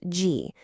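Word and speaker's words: 戈: The component on the right side is actually its own character, pronounced G.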